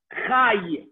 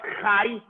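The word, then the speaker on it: חי: Chai. So what's chai? It's chet with a patach cha, and the yud, chai.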